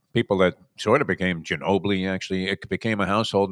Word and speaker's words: Ginobili: But Trevor Denman was pronouncing there's a horse named after Manu Ginobili, and Trevor Denman called him, and I don't know if he did this more than once. He kept calling him Gino Billy.